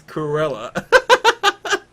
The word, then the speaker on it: Cruella: much more sense it's Cruella and then you realize you're saying it wrong Cruella oh wow yeah it's like the word cruel because she's cruel oh my God I